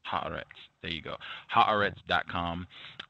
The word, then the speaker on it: Haaretz: Can you give us the correct pronunciation? That's pretty good. Haaretz. Haaretz.